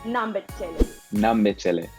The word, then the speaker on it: nambe chele: So ok then, it's like , but We say it like that.